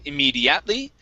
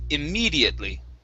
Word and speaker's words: immediately: stress is right here instead of immediately it's immediately immediately one more time immediately